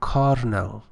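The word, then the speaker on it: colonel: uh it is written colonal but it is pronounced caral actually uh said affirmative or positive you know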